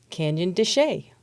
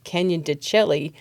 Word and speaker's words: de Chelly: But today, we're here to talk about a National Park Service unit called Canyon de Chelly, which some people mistakenly call it Canyon de Chelly because that's how it looks like it's spelled, but that is not how you say it.